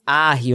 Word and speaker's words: Harry: Eu sei que gente fala, eu mesmo falava Harry Macis, é, até porque e se escreve como se fosse Harry Potter, mas a pronúncia não é Harry, pelo menos não dele, a pronúncia é Macis, OK?